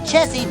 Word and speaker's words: Chessie: camera shy sea monster is called Chessie pronounced similarly to Missy it might be an